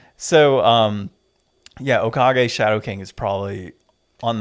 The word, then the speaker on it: Okage: black Spirit type Okami not Okami sorry uh Hokage Hokage no is it okay Hokage is the